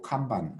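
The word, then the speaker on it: kanban: 간판 해당이 되는 건데 일본식 발음으로 감방 그럽니다 근데 이제 전세계적으로 그냥 뭐 간 반 이렇게 써요 아 자 여기에 어떤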